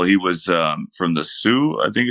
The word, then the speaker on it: Sioux: um my uncle he was uh from the Sioux I think it's how you pronounced it try he was Native American uh